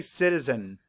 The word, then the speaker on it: citizen: i z e n Now where's the schah it's in that second eye it's the unstressed if I were to